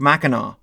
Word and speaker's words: Mackinac: Allied with Native-American tribes, the British moved on Fort Mackinack (pronounced mackinaw).